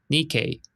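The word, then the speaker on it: Nikkei: two syllables and the stress on the second syllable. The first part sounds like ni and the second part sounds like k. Nikke.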